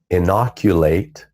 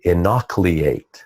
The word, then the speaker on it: inoculate: words like for instance instead of saying inoculate he would say anak liate instead of relating to